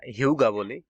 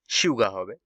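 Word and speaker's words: 휴가: এটা হিউগা বলি, তো আসলে উচ্চারণটা হিউগা হবে না, শিউগা হবে।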